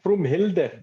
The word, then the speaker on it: Vroomhilde: Is it Hilda? It's Hilde. That's Vroomhilde. That's how you pronounce it.